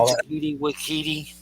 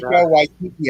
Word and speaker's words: Taika Waititi: Say his name, Takiti Wakiti. Did I say it right? Taika Waititi, I think is the way you say it.